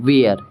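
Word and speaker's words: where: ठीक है, WHER वेयर।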